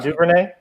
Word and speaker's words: Duvernay: Duvernay?